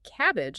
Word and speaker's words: CABG: the plumbing, coronary artery bypass surgery, or cabg or cabbage as you'll almost certainly hear it pronounced on the words.